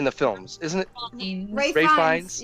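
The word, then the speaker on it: Ralph Fiennes: Yeah, Ray Fiennes. Which is another name that I Mhm. did not learn until a couple of years ago. That's how you say it, because it's not spelled that way.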